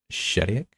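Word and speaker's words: Chediak: Is it Chediac? Shediac. I was thinking Shediac.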